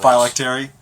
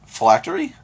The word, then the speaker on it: phylactery: Phylactery? Is that how you say it? I've Yes. always said it phylactery. When have you ever said it, though? I play Magic. Phylactery. Because that's how they say it in Dragon Age. Huh. Yeah. Phylactery sounds much better than phylactery.